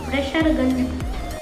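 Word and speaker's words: Fraserganj: तो अभी हम लोग चलेंगे नंबर 2 में, जो कि है फ्रेशरगंज। फ्रेशर बोलते हैं उसको क्योंकि fresher is simple to pronounce.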